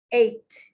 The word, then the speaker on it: eight: in those situations okay eight remember it's spelt it's pronounced like the past tense of the verb to eat it's a homophone every everybody every child